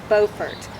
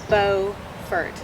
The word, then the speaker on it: Beaufort: to pronounce the name not to be confused with both a town and county in south carolina spelled exactly the same but pronounced buford north carolina's version of